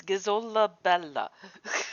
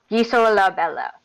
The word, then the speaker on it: Gisola Bella: It's Gizola Bella. We'll try. He has to say it very slowly. Hang on, can you actually do that again so I can write it phonetically right now? Yeah, it's Guy So La Bella. Gisola Bella.